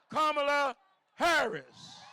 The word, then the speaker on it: Kamala Harris: good friend whose name are know how to pronounce Kamala Harris so listen if it's that point of the